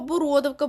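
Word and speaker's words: бородавка: слина сеча тулуп щелепа окрім знову нашого бородовка бородовка у нас особлива має наголос на другому складі усе інше все що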